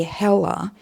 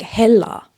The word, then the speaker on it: Hella: And also in Estonian you wouldn't you wouldn't really say Hella like in English. It's supposed to be pronounced like Hella.